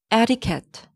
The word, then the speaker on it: etiquette: Number four, etiquette. It's not etiquette, it's etiquette. Etiquette, etiquette, etiquette.